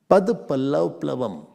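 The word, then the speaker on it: पदपल्लवप्लवम्: I hope you can pronounce it. Don't break at the wrong time. Bole padap, lavap, lavam. So when you have the word, you should know where to break it.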